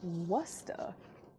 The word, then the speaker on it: Worcester: It's pronounced Wusta.